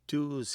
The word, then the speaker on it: doo: English but it's a doo kleen which is a Scots pronunciation of dove doo and clen or clinging which means hatching.